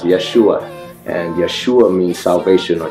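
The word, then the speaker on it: ישוע: living now you know Joshua in in Hebrew is pronounced Yeshua and Yeshua means salvation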